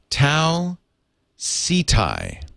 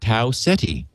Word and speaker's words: Tau Ceti: let our listeners know i have always pronounced it tau city why did that come up how everyone pronounces it i mean i think garrett jerry pornell pronounces it tau ceti and i guess we're all wrong it's the closest sun-like